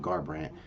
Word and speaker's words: Garbrandt: Yes, how you say his name, Garbrandt.